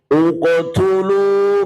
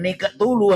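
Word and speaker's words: اقتلوا: Tapi kalau untuk ibtidak atau memulai uqtulu, bukan nikatulu, hati-hati. Uqtulu, silakan. Uqtulu. Misalnya nafasnya gak kuat. Mubinini uqtulu.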